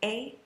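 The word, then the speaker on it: aie: the two form and it's spelled a i e s lots of vowels but it's just pronounced a in the Vu form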